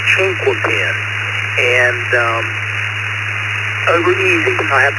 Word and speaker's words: Chinquapin: It's actually Chinquapin. It's pronounced Chinquapin. And over easy. I have to go with over easy for me. KR4, Tango Lima Hotel. Well, alrighty, Tony. Chinkopin it is.